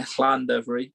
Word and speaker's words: Llandovery: A bit of a classic fixture, cross border, Millfield, and you'll have to check my pronunciation, but Millfield against Llandovery College. Yeah, Llandovery, but yeah, you're all right.